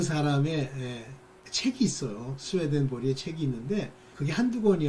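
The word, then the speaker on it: Swedenborg: 그래서 이제 그거를 스웨덴 발음으로는 스웨덴 보리 이렇게 부른대요. 그렇지만 뭐 이제 그걸 영어식으로 독일어식으로 이렇게 하면 스웨덴 보그 이렇게 부르기도 하고 그런데요.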